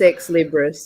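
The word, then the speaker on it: ex libris: gumshoe print is it what is it pronounced hex Libre probably but I don't know how to speak English it's ex-librous it's um oh it is Libras okay yeah yeah so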